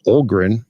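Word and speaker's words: Öhgren: got a first round pick that's turned into Olgren, right? Is that correct pronunciation?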